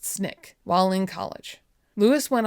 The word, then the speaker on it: SNCC: He became involved with the Student Nonviolent Coordinating Committee or SNCC, pronounced SNIK, while in college.